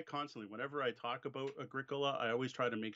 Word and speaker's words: Agricola: We are not here to teach pronunciation. See, I constantly, whenever I talk about Agricola, I always try to make sure that I pronounce it Agricola at least once.